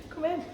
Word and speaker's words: cumin: could also put cumin in there as well if that's the flavour that you like. How to say it? Cumin. Come in.